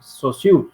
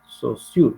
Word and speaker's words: Saussure: Saussure se pronuncia. Saussure, se escribe Saussure.